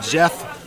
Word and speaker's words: Geoff: Oh, our amazing ref there, Mr. Jeff Fred. By the way, that's spelled Geoff because he's freaking awesome.